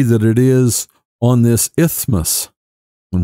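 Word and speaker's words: isthmus: it is on this ithos and one of those hard words to say especially if you looked at how it's spelled this ismos and it's a narrow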